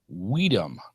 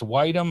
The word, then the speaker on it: Widom: If it's Widom, I apologize. Widom. Oh, he actually has it put right here. My last name is pronounced like the word wisdom, but without the S. So Widom.